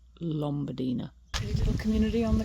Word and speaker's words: Lombadina: I keep calling it Lombadina. It's actually Lombadina.